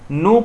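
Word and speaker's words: Knoop: है जिसे कि हम नो फिटनेस टेस्ट कहते हैं नोट की स्पेलिंग होती है के एन डबल ऑफिस यह क्या होता है साइलेंट रहता है न्यू फेयरनेस हम उसे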